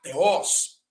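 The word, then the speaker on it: θεός: Por exemplo, eu coloquei aí para você ver a palavra teos ou teos, né? Alguns pronunciam teos. Na pronúncia de hoje, nós vamos utilizar teos, que é Deus.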